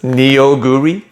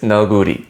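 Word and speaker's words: 너구리: We pronounce it on purpose, neoguri, but it's naguri, okay?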